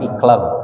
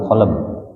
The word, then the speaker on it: qalb: Ini dulu kita seringnya dengar iqlab ya. Yang betul adalah qalb.